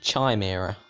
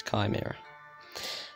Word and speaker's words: chimera: it like tomorrow instead of chimera some people pronounce it chime era they you know that's just not that's not right whatsoever it's chimera there is someone out I think they called